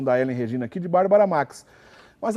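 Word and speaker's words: Bárbara Maix: redação né porque eh o correto seria como lembrou que a Helen Regina não pronunciar o i Bárbara Max Bárbara Max porém houve uma discussão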